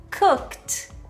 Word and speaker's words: cooked: Já o verbo cook, a gente vai falar como cooked, cooked.